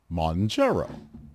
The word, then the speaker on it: Mounjaro: Monjaro, pronounced Monjaro.